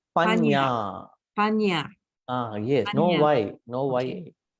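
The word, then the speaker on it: paññā: panya.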